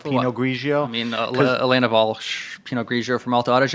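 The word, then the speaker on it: Walch: I mean, Elena Walsh, Pinot Grigio from Alto Adige, if you want Christmas. Wait, so Alto Adige, say the maker again? Elena Walsh, like Walsh.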